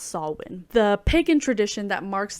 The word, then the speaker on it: Samhain: It wasn't until after watching the movie that I realized Sam is actually named after Samhain, spelled Samhain, but it's pronounced Samhain, the pagan tradition that marks the end of the harvest season and the beginning of the colder months.